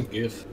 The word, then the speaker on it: GIF: what's a gif it's pronounced jif actually yeah sorry uh